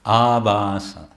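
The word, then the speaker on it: ābhāsa: it makes sense so short a and long a can make a world of difference in meaning um one example of this this is very common devotees will mispronounce um they'll say NASA NASA it's not NASA it's nam nam it's a long a abasa because abasa means semblance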